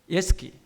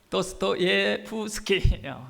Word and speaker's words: 도스토옙스키: 그 21명 가운데 20세기의 위대한 문학가인 도스토옙스키 도스토예스키, 도스토예프스키. 발음이 왜 이렇게 힘들어? 도스토예스프스키, 도스토예프스키.